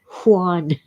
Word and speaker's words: Juan: say Juan and yeah, most Americans just make it W, but I I learned in, you know, at age 12 to pronounce it. Juan, Mrs.